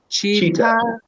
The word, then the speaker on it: cheetah: Cheetah. Cheetah. Cheetah. Cheetah. Cheetah. Oftentimes, it depends on where you are, but oftentimes people will pronounce the T like a D and say Yeah.